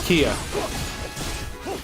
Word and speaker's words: Kia: Yeah, her name's Kia. Pronounced Kia like the car.